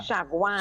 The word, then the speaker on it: Chaguanas: Shagwan.